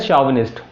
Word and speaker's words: chauvinist: Next a person who is blindly devoted to an idea, इसे बोलते हैं शॉविनिस्ट, ये इसका प्रोनाउंसिएशन है, बट जो लिखा है दैट इज CHAUVINIST।